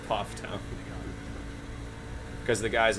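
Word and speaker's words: Pfafftown: place is called okay it's spelled p-f-a-f-f town any idea what that's for puff poff yeah it's poff town because the guy's name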